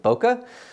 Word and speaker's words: bokeh: for different people and you might pronounce it in different ways I'm calling it Boca Boca is effectively when